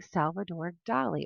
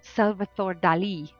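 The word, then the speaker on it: Salvador Dalí: it was a young salvador dali or let me pronounce it correctly salvator dali i'm going to say it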